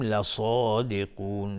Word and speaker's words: لصادقون: دو حرکت غنه میدیم لصادقون لصادقون. صاد از حروف استعلاء غلیظ تلفظ میشه و قاف هم از حروف استعلاء غلیظ تلفظ میشه.